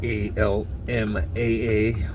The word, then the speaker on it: Alma: It's actually pronounced Alma. Almaa.